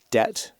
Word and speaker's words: debt: And you got things like people started spelling debt with a B in it because it came from a Latin word that had a B in it.